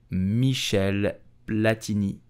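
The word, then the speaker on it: Michel Platini: so how do you pronounce his name correctly you will say Michelle platini Michelle platinish Michelle platinish did you know that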